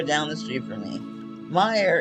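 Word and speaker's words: Meijer: this fidget spinner from Meyer I bought this fidget spinner from the Meyer grocery store down the street for me Meyer is spelled me J R and that has been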